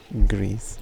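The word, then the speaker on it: Gris: No, it's spelled G-R-I-S. Grease. Just like Grease. Only it's spelled differently.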